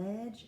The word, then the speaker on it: ledge: ledge of the house ledge is led GE it's a little tricky we would think that ledge if you sounded it out and edge the le g that leg so the DGE it's a little tricky so that's why we practice practice practice okay so I'm gonna